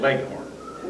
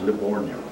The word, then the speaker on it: Livorno: Well, we called it Leghorn. Leghorn, how do you spell it? L-E-G, like a leghorn chicken. Oh, okay. Only that's the G-I, it, actually the town is Livorno.